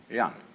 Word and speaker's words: jen: of a human being is called Yan spelled Jen for reasons best known to Chinese Scholars uh I don't know what they are but it's pronounced R